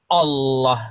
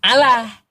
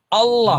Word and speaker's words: Allah: Apabila diawali dengan fathah atau dhammah, maka dia tafkhim Allah gitu pengucapannya. Bukan Allah. Bukan Allah. Itu memang pengucapan orang Arab sananya, aslinya Allah.